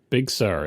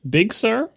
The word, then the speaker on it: Big Sir: said it let me let me give you the two ways ready big sir that's Accent on the first one big sir Accent on the second one and Big Sir equal accent it's not am I